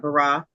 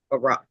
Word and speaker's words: bara: Okay, so Terry, I just looked that up, bara, and it's spelled B-A-R-A.